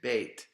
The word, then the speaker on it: Bet: Then and now you're putting the dot in the middle of it. Bait each time. Bait. And of course, I didn't do that because I had some challenges with this multimedia presentation of actually putting a dot in the consonants. So just write it out. Bait, put your dot in it.